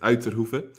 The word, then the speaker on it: Uitterhoeve: try it at home my last name is pronounced as outer hoofer which is a Dutch surname that's also where I'm